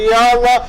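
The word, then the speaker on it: يلا: വരൂ എന്ന് പറയുന്നതിന് ഉപയോഗിക്കുന്നതാണ് അപ്പൊ യാ അള്ളാ എപ്പോഴും നമ്മൾ യാ യാ എന്നല്ല യാ യാ അള്ളാ ഓക്കേ ഇത് സാധാരണ കേൾക്കുന്ന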